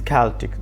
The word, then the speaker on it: Celtic: our discussion from the celtic rather it is celtic that is pronounced with the hard curve sound celtic tribes